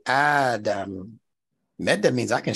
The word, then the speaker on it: Adam: is even when ad notice how I'm pronouncing his name I didn't say Adam as the scholars give it to us with the Meda over the AL every time you see